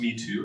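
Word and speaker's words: Mitú: So it's pronounced Mitu, which is a little town along the river airstrip.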